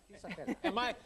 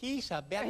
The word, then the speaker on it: Isabella: Isabellla. Am I over-pronouncing your name? Say it again. Isabellla. Yes. But you know, it's fun. It's fun. I'm putting a little Italian into it.